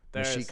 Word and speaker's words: Mexica: Mexico just means the place where the Mexica live. Mexica, it's spelled like Mexico with an A.